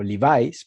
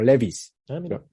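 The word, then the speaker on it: Levi's: es muy gracioso porque en inglés y en México la conocemos como livis pero aquí en España la conocen como Levis pronúncialo como quieras qué te parece eh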